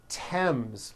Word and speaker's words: Thames: spelled with a th they are pronounced as if they were spelled with a normal t t like that and these words are thomas thompson teresa thailand thames like the river esther